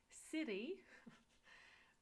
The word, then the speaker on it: Siri: Then it's that thing that you ask questions to. Siri GURAY De Ve NAMAY.